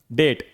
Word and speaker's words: डेट: अगला डेट। यह डेप्ट नहीं होता।